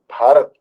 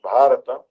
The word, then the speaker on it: Bharat: Our country's true name is Bharat, pronounced Bharata, named after him.